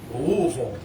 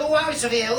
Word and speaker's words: Louisville: No, he does a whole routine about how to and how not to pronounce Louisville. It's not Louisville, it's not Louisville, it's not Louisville, it's Louisville.